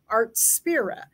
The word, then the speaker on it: Artspira: according to the videos they call it artspira is what they're calling it I I wasn't sure how to pronounce it but everybody has pronounced it art spirit so it came out